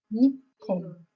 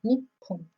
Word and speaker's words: Nippon: Or you can also say Nippon. Another way of pronouncing Japan. Nippon.